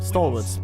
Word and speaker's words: Stalwarts: Stalwoods. Um, stalwards. That's the proper pronunciation there.